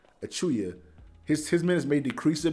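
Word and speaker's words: Achiuwa: say his name wrong i always say ah chihuahua but his name is achuya achuya his minutes may decrease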